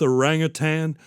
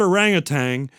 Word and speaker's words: orangutan: It's not It's not orangutang. Orang I can't even say it. Orangutan.